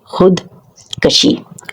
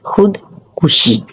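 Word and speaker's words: خودکشی: जब हम लफ्ज़ देखते हैं खुद कशी, खुद कुशी, खुद कशी लफ्ज़ गलत है, खुद कुशी दुरुस्त लफ्ज़ है।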